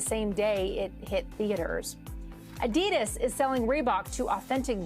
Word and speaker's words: adidas: the real question is do we just go with adidas which is the name that i grew up with or the more properly pronounced european version adidas oh oh what i'm